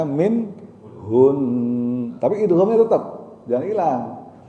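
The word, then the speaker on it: منهن: Bacanya min hun, tapi idghamnya tetap jangan hilang. Min hun, min hun, bacanya gitu. Nah-nya jangan dibaca alifnya, fathahnya. Dan idghamnya jangan hilang, jangan min hun. Nah, itu juga salah.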